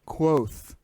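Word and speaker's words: Kvothe: book in the book he actually says it's pronounced quoth like q-u-o-t-h-e like quoth the raven nevermore right um yeah but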